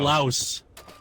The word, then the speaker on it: Laos: You got to pronounce it. We must It's know. Laos. It is Laos.